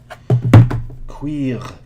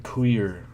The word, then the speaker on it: cuir: Cuir. Cuir is how you pronounce the French word for leather. Cuir. Not queer.